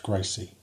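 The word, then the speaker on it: GRCSE: is The Graduate reference curriculum for systems engineering pronounced Gracie Gracie gives curriculum guidance for Master's programs in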